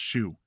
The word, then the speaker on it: SHU: a special housing unit Shu pronounced shoe for assaulting another prisoner